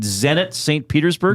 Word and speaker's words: Zenit Saint Petersburg: Is it Zenit Saint Petersburg?